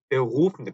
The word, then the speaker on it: Beruf: 근데 사실은 Beruf인데 Beruf, Beruf, 루 해서 목 안이 뭐랄까 떨리는 것 같은 Beruf 이런 소리가 이런 소리가 목 안에서 나는 소리입니다.